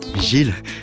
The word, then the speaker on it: Gilles: Mais bon, Gilles, et il paraît que ça se prononce Gil en fait.